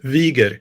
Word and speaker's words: Wiger: Today we have a very special guest, Wigger. Did I say that right? Pretty close, yeah. How do you say it? Wieger.